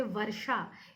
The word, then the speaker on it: वर्षा: जैसे वर्षा, इसमें जो व के बाद जो र का उच्चारण आ रहा है वर्षा, वो र जो है हम रेफ की भांति लगाते हैं।